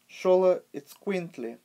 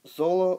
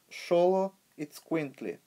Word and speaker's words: Xoloitzcuintli: to call this dog but actually the correct pronunciation would be Shola it squint Li not Zola or solo but show it squint Li so most of the people as I said